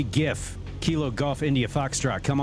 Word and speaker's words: GIF: foxtrot K gif yep that's a hard G I'll defend it to the death anytime those three letters are together it's GIF GIF all the way all the way okay